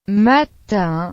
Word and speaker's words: matin: N, o menos frecuentemente, I, M, O, U, M se pronuncia. un, Por ejemplo, matin, que significa mañana, el principio del día, morning, en inglés.